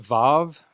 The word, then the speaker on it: vav: Then we get vav, which in Israeli pronunciation is generally a v sound like in victory.